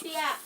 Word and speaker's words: hopia: That's Hopia. Huh? Hopia. Spell it. H-O-P. Oh, hoopia.